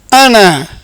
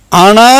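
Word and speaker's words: أنا: இன்னி வஜ்ஜஹ்து வஜ்ஹிய லில்லதி ஃபதரஸ் ஸமாவாதி வல் அர்ல ஹனீஃபன் வமா அன மினல் முஷ்ரிகீன். இந்த இடத்துல வரக்கூடிய அனா என்ற வார்த்தையை அன என்று உச்சரிக்க வேண்டும்.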